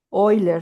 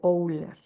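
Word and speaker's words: Euler: Luego tenemos otro concepto que que considerar de las redes, que es la fórmula de Oiler, según recuerdo es la pronunciación. Fórmula de Oler.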